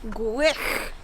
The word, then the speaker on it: Gwrych: Gwrych. Gwrych. Yeah. Gwrych. Gwrych. Gwrych. So in Welsh, the CH is Gwrych. Yeah, instead of ch.